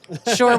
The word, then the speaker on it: Shure: you've heard it here sure without the H the H is silent modeling our sm39 headset